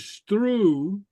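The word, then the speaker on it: sruth: The root word is stru, S-R-U-T-H, and the S-R is pronounced like a S-T-R in Gaelic.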